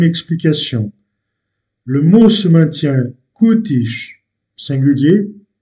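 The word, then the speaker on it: cútis: Le mot se maintient kutish, singulier, kutish, pluriel. Donc le mot se maintient invariable. Pourquoi? Parce que il se termine en S, mais l'accentuation est faite sur l'avant-dernière syllabe.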